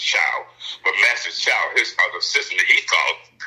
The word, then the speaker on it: Choi: The founder, of Taekwondo, Master, they say short spelled Choi, but it's pronounced Chow.